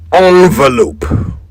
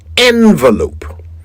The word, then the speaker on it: envelope: Either way it is never pronounced with an o sound at the beginning. It is always an E.